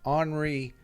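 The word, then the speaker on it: Henri: too who's the commander Henry Martin honoree is how the French pronounce it honoree Mont Martin infantry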